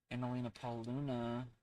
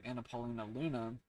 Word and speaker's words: Anna Paulina Luna: this attack as an American civilian see um analina Paul Luna sorry Anna Paulina Luna I say it wrong is expected to force